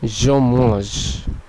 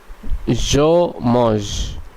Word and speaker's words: je mange: সর্বশেষ নিয়মটি আমরা দেখতে পাচ্ছি যখন একটি ভার্বের মধ্যে শেষের কনসোনেন্টটি উচ্চারিত হবে না। এর উদাহরণস্বরূপ আমরা দেখতে পাচ্ছি je mange, je mange, je mange। এখানে নিশ্চয়ই আপনারা খেয়াল করলেন যে শেষের ওটা সাইলেন্ট থেকে গেল, বরং এই যে ফরাসি যে পর্যন্ত উচ্চারিত হলো, যেটি দাঁড়ালো je mange, যার অর্থ আমি খাই। আপনারা নিশ্চয়ই বাংলাতেও খেয়াল করছেন যে এটির উচ্চারণ হবে je mange।